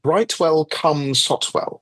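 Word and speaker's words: Brightwell-cum-Sotwell: A village called Brightwell come Sotwell. Come is spelled cu M actually genuinely where I grew up.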